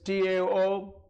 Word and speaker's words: Tao: And right after that, this Austrian theoretical physicist Fritz Capra wrote a book called The Tao of Physics, T-A-O, Tao, it's pronounced as Tao, it's a Chinese word, Tao of Physics.